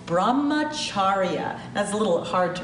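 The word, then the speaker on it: Brahmacharya: practice stea non-stealing the fourth Jana is called Brahma chharia as a little hard to pronounce Brahma chharia Brahma chharia Brahma chharia is all about having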